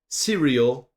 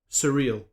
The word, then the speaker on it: surreal: What was it wrong with the pronun pronunciation of surreal, bro? Serial. Surreal. You can clearly hear me say two different things.